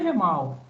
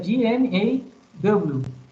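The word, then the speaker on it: GMAW: Não é GEMAL. A pronúncia aí é o quê? É G-M-A-W.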